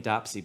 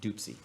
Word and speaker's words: Dopsy: so i always say it wrong it looks like dwayne dopsy but i think it's pronounced doopsy dwayne dupsy and the zydeco hellraisers